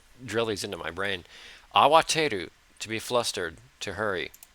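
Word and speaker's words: 慌てる: Is it arawateru? No. Kawateru? 慌てる。そんなに慌ててどこに行くの？ Awateru, to be flustered, to hurry.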